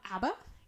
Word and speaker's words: ABBA: Um, Abba.